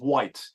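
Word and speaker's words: Wight: of England called the Isle of white but it's not but it's spelled wi ght and some of your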